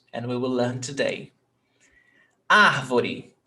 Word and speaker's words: árvore: Árvore, 3 syllables. Ar, vo, re. Árvore. Ar tem acento. Is the stressed syllable. Árvore. You don't say arvore. No, arvoré.